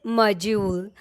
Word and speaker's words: module: Module? No, the right way to say this word is module.